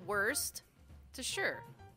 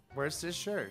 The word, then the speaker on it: Worcestershire: worcestershire one more time worcestershire worcestershire so worst to sure where's this shirt yeah you make sure that it's not the worst yeah where is his shirt hey we're learning new